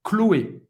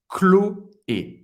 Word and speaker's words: Chloé: Mas agora você vai parar Chloé. Não vai pronunciar Sh no final. Chloé. Pode tirar esse H na pronúncia. Chloé. Duas sílabas.